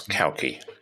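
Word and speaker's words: Cauchi: thank you c-h-i pronounce kalki as in cow and key brilliant I learned that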